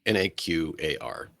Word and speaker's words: Naquar: Naquar. How do you want to pronounce that? How do Yeah. you want to? Yep. Yep, just that way. Naqar, because it's simple and it's clear.